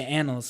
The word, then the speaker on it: Annals: now a lot of his work his work on Annals, is that how you say it? Yeah. Yeah, Annals. Annals.